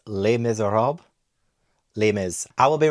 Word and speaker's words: Les Misérables: I'm kidding, I know this is not pronounced that way. It's Les Miserables.